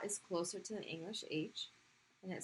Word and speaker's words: ه: Okay, so this is the letter Ha. And it makes the H sound that is in your chest.